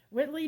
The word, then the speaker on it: Whitley: All right, guys, so from what I understand, Whitley, I am saying it right, isn't it? Yes, Whitley. Whitley does wax.